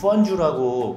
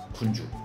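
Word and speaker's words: 汾酒: 청향 술 중에 하나, FENCHIEW, 펀주라고 그 발음을 이렇게 하는데요. 진짜 저희 발음식으로는 분주.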